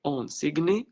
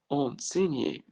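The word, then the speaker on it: enseigner: الجي بقى لما يجي بعدها ان في الفعل اللي هو يعلم او يدرس، يعني ما بتتنطقش. انسيجني لا، انسينيي.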